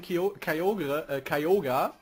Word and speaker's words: Kyogre: ach so, und mein Kyogre, so wird's ja ausgesprochen.